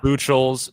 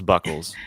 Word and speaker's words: Buchholz: I had to ask you how to pronounce that name, by the way. Buchholz. It looks like Buchholz. It's Buchholz.